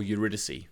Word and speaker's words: Eurydice: Yes, HMS Eurydice. Okay? Or Eurydice, depending on how you say it.